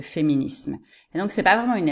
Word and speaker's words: féminisme: rare que ça d'entendre des Français qui vont prononcer tous ces mots avec un Z ok ils vont dire féminisme au lieu de féminisme donc c'est pas vraiment